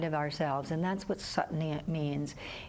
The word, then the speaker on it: Sat: There's a sense of self that's really deep inside of ourselves, and that's what Sat means. It's S-A-T, but it's pronounced Sat.